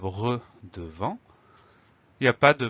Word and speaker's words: devant: Le mot devant, première syllabe tout simple de D-E. Ensuite, on a le son en qui va s'écrire A-N. Et ensuite, on a une lettre muette, la lettre T, qu'on va retrouver dans devanture.